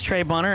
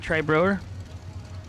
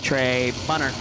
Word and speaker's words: Trey Bunner: you know why i know that's trey bunner and not trey brewer he texted me says hank quit saying my name wrong sorry it's in the computer tray as brewer but we know it's trey bunner he's got a chance